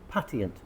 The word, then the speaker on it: patient: Patient. Patient. Patient. Patient. It's a chh sound.